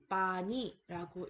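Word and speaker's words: पानी: 그럼 어떻게 읽나요? 뻐의 장모음 아가 더해진 거죠. 그래서 빠니라고 읽을 수 있으며 이 힌디어 단어는 물을 뜻합니다.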